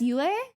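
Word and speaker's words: Yue: Remember Princess UA? That's uh that UA is how you pronounce moon.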